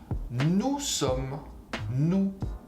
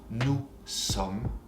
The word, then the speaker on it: nous sommes: Nous sommes, we are. You don't pronounce the S at the end. Nous sommes.